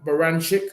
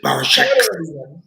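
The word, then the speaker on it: Baranchyk: Then after that, he defeated Ivan Baranchik, who was 19-0. Then after that, he took the O Andy, again. you didn't pronounce his name properly. You said Barachek.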